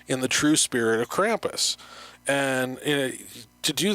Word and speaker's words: Krampus: so his name is Krampus his name is Krampus yes so you spell it with this with the crop there right yeah k-r-a-m-p-u-s like if you got the cramps like you know like